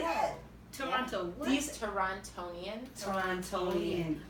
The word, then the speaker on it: Toronto: And you can tell if people are really from Toronto if they say Toronto or Toronto. you say Toronto, you're not from Toronto. The T is silent, boo.